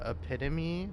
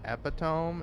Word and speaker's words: epitome: It's like, technically it's pronounced, epitome, not epitome.